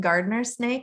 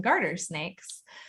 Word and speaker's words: garter snake: snake and it was funny you kept saying gardener snake and i had never actually heard that before really i always call them garter snakes um and so i was like is she